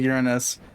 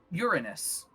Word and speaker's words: Uranus: You pronounce it like Uranus. Yeah, I know most people pronounce it like Uranus, but uh that's the planet, not the city. I pronounce it like Uranus, as in full of urine.